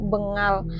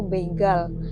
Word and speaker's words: Bengal: makhluk supranatural dan harimau Bengal. Aku bacanya harimau begal. Aku pikir begal kan ya kali harimau begal.